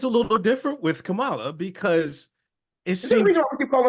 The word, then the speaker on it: Kamala: Kamala. What I'm saying is the emphasis on the first syllable, not the second.